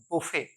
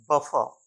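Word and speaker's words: buffet: के food arrangement को हम कहते हैं बफे ना की बफर अगला डी यू एन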